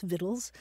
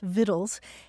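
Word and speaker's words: victuals: the thing is that the old pronunciation was already so well established that people kept pronouncing it vittles anyway so um today you'll see either the word Vittle spelled uh v-i-t-t-l-e or v-i-t-t-l-e-s vittles and you'll also see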